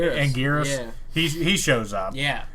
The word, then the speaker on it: Anguirus: like the ones uh how do you say his name agaris thank you anguirus he shows up yeah